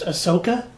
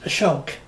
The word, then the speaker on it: Asoka: movie's title was pronounced Asoka even though in the film the character's name is pronounced Ashok repeatedly in 2001 Shahrukh Khan